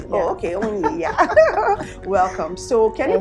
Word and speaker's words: Onyih: I hope I pronounced your name well. You did. Is it Onyih or Onyih? Onyih. Yeah. Oh, okay, Onyih.